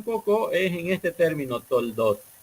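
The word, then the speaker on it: תולדות: Entonces, cuando unificamos esta letra, la pronunciación se puede dar como Toldot, que significa o genealogía o ascendencia, o también puede significar la historia.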